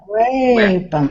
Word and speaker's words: weapons: Be careful, Tatiana, about way. You're going to A on the first vowel. Wet. It's a very weapons. wet. No, not weapons. No, not. Just wet. Weapons. Weapons. That's it. Weapons. More relaxed. That's it.